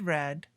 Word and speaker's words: read: in the present and read in the past sounds like the color red read red fit fit cost cost